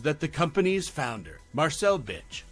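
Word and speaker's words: Bich: the company's founder, Marcel Bitch, decided to change the spelling of his last name from Bitch to BIC to ensure proper pronunciation and avoid it being misread as a vulgar word in English.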